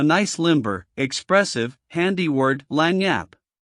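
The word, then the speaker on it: lagniappe: Orleans to get a nice limber expressive handy word lanyap. They pronounce it Lanniap. It is Spanish.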